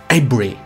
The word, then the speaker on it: Avebury: La verdad es que Avebury sí que sé pronunciarlo, que sería Avebury. Es que claro, como estaba allí, pues se me ha pegado un poco. Y tampoco lo digo muy bien, porque allí los ingleses dicen como Avebury, algo así, ¿no?